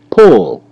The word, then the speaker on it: pull: Pull. Pull. L is silent. And you see the U make the short double O sound.